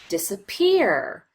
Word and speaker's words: disappear: much time on the disappear, we categorize that as secondary stress. And if you notice this middle syllable, we just rush through as quickly as we can. Disappear. We get right to that third syllable that receives the primary stress.